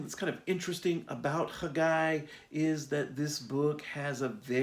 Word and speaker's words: Haggai: Um, Not Haggai, like I said on Sunday. The Hebrew actually should be pronounced Haggai.